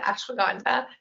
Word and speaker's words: ashwagandha: It's that ashwagandha, the fun one.